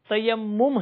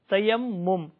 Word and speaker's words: تیمم: تلفظ بھی نہیں آتا، تو کوئی اسے تیمم کہتا ہے، کوئی کچھ اور الفاظ کے ساتھ، کچھ اور جملوں کے ساتھ اس کا تلفظ کرتا ہے، تو اس کا درست تلفظ تیمم ہے، تیمم۔ تو اس واقعے کی